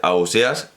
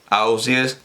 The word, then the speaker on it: Ausiàs: la conclusión de que debe ser a óseas o quizás 'aussies' o av si es bueno en realidad